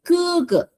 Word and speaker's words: 哥哥: 哥哥对啦 It's in the throat here, not K, 是 throat here. 哥哥 Okay.